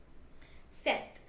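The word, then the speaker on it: sept: this one five right this one twelve right set okay the special thing with set is the P in set is silent okay this one wait eight right with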